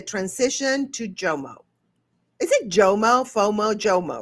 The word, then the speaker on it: JOMO: Is it JMO?